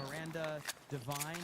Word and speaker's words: Miranda Devine: Patriotic Gestalt says, give a shout out to Miranda Devine, is how you say her name.